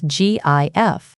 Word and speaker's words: GIF: The creator, Steve Wilhight, intended it to be pronounced with a soft G, like the peanut butter brand, as he stated in 2013.